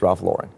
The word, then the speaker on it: Lauren: But in terms of how you say it, it's Ralph Lauren.